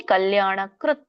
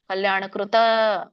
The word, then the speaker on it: ಕಲ್ಯಾಣಕೃತ್: ವಿನಾಶಸ್ತಸ್ಯ ವಿನಾಶಸ್ತಸ್ಯ ವಿದ್ಯತೆ ನಹಿ ಕಲ್ಯಾಣಕೃತ್ ಕೃತ್ ನೋಡಿ ಕಕೆ ಒಟ್ಟರಸುಳಿ ಇದೆ ಕೃತ ವ್ಯಂಜನ ಇದೆ ತ ಕಲ್ಯಾಣಕೃತ್ ಕಲ್ಯಾಣಕೃತ ತಪ್ಪು ಕಲ್ಯಾಣಕೃತ್ ಕಶ್ಚಿದ್ ಅಲ್ಲಿನು ಕೂಡ ವ್ಯಂಜನ ಇದೆ ಸ್ವರ ಉಚ್ಚಾರಣೆ ಮಾಡಬಾರದು ಎಂಡಿಗೆ ದುರ್ಗತಿಂ ದುರ್ಗತಿಂ ತಾತ